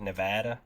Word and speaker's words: Nevada: Is that how the locals say it? Nevada.